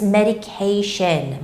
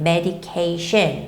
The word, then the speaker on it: medication: And here, the word is quite long, but whenever you see a word that has the T-I-O-N ending, you don't necessarily have to, think about where the stress goes, because almost in every case, the stress of the word goes right before the word T-I-O-N. So it's medication, medication, medication, all right?